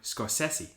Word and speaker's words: Scorsese: Oh, by the way, David, it's actually pronounced Martin Scorsese.